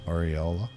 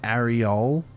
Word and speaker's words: aureola: Is that how you pronounce it? Aureola? Not areole.